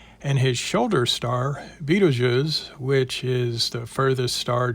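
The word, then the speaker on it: Betelgeuse: star to the left you'll find a lot of people will forget about the real pronunciation of the shoulder star and just call it beetlejuice lots of stars have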